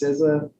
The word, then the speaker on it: CISA: yeah today I will go over what is sizza um ciso that's how we pronounce it um cisa compared to partner agencies uh a little bit